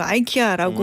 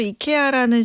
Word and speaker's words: IKEA: 우리 앞에서도 잠깐 얘기했는데 미국인들은 이거를 영어 발음으로 아이키아라고 말을 하고 스웨덴 현지 발음은 이케아 이렇게 발음이 맞고 사실 본사에서도 이케아라는 식으로 공식 홍보를 이제 발음으로 하잖아요.